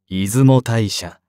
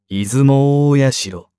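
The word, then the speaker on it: 出雲大社: 由来している出雲大社の正式な読み方は出雲代謝ではなく出雲大城であるゴミ袋が黄色くなっ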